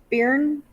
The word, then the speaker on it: Byrne: and It's just spelled with a Y, but it's Byrne.